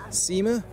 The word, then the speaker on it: Cima: I don't know how it's pronounced. Cima or Kima, or it's a V.